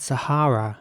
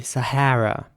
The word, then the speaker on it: Sahara: The next word is spelled Sahara, and it's pronounced Sahara in British English, Sahara, with R sounding A's. And in American English, it would be Sahara with an A sounding A in the middle.